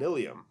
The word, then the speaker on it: ileum: Ilium and ileum, they both sound exactly the same.